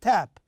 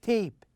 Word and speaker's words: tape: tab we see you see here tap we pronounce it as a sound but if there is an e at the end we say tape okay and here also